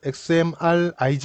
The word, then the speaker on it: XMRig: Entonces, la notación se escribe como X M R ig y se lee como XMRig cuando se lee.